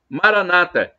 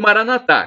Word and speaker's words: Maranata: Deus todo-poderoso ele proverá Maranata como dizem os protestantes evangélicos com a tônica na penúltima sílaba ou Maranatha como dizemos nós católicos com a tônica na última sílaba não importa os todos